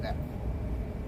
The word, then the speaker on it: Neefe: So I'm like, yes, it is pronounced Neff, but I say Neef because it's easier to send people if they, because it looks like Neef.